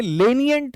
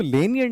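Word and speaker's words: lenient: ये जो है ना, इसको बहुत सारे बंदे लेनियंट प्रोनाउंस करते हैं। इसको लेनियंट नहीं बोलना है, लीनियंट बोलना है।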